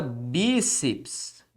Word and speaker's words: bíceps: temos por exemplo palavra bíceps e simples vim aqui também ó na palavra bíceps o que eu tenho é a sílaba tônica nesta posição bíceps certo então perceba que